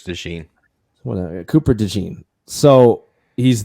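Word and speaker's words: DeJean: pronounce his name John is it dejon or Dee pry sure it's dein what Cooper Dee so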